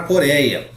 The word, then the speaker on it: Coreia: vocês para vocês entenderem a palavra coreia por ela é uma paroxítona a yamá paroxítonas com ditongo é e olha aqui ó paroxítona penúltima sílaba tônica essa aqui é a sílaba forte é lá coréia e ela perdeu o acento também porque é uma paroxítona com ditongo ei e todas as paroxítonas